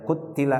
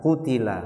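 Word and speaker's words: قُتِلَ: Ada yang membaca qutila ashabul ukhdud dengan taknya ditasydid. Ini qiraahnya Al-Hasan dan Ibnu Miqsam. Tapi jumhur ulama membacanya dengan takhfif, dengan diringankan taknya, qutila, enggak ditasydid, qutila.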